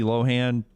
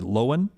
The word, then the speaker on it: Lohan: were talking about lindsay lohan trying to tell everybody on tick tock her she pronounces pronounces her name lindsay lohan not lohan and lt said did